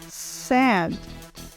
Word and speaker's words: said: Dizer se fala say e o passado da palavra say é sad. Sad. Sad significa disse. E nós falamos exatamente da mesma forma como nós falamos a palavra triste em inglês. Sad.